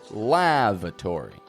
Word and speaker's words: lavatory: name lavatory now again notice here I'm getting that first a strong LA but the second a is awah a weak quiet uh uh sound lava lavatory the lavatory is